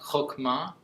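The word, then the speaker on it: חכמה: wisdom is just fascinating it's called hokma you say it like that hokma and often we think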